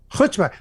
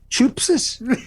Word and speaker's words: chutzpah: By the way, thank you very much for saying that correctly. Yeah, he did. He spat all over the microphone. That was an exaggerated Presbyterian pronunciation of chutzpah. I spoke to a non-Jew the other day. He said, "Chupsis." He had no concept of how. And I said, "No, you got to pull up phlegm from your toes."